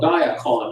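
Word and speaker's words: Diakon: Donald has before us a purchase of service agreement with, Donald, I'm gonna call it Diacon. Is that how you pronounce it, to your Yes.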